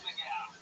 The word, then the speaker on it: McGough: It's McGow. McGough.